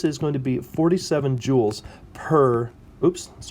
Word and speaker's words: joule: is known as a joule it's named after some scientists from the 1800s it's spelled j-o-u-l-e but it's pronounced joule like a precious gem that's easy enough to